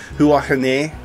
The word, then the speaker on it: Huahine: Looks, I tried pronouncing it and I couldn't get it to work. Yeah, Huahine is where we're starting, which is the Maohai people.